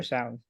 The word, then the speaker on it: sows: the vulgar sows or sows? Sows? Sows. Yeah, it rhymes with impose.